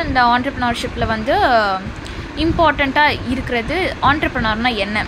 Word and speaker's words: entrepreneur: So first வந்து உங்களுக்கு நீங்கள் இந்த வேர்டை பார்த்தீங்கனாலே இது என்டர்ப்ரனர் மாதிரி இருக்கும். நானுமே ரொம்ப நாள் வந்து இது என்டர்ப்ரனர் அப்படின்னு தான் சொல்லிட்டு இருப்பேன். பட் நம்ம அது வந்து ஆண்டர்ப்ரனர் அப்படின்னு தான் ப்ரொனவுன்ஸ் பண்ணணும்.